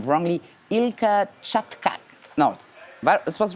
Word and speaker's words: Ilker Çatak: This time I will try not to say his name wrongly. Ilka Chatkak. No, this was right? Ilka Chatak.